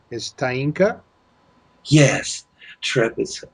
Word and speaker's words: Taeenka: And please, your name, to say it correctly, is Tainka.